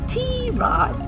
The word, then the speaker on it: Tirade: tierod and my do it's not pronounced I read or TV but tierod the way we like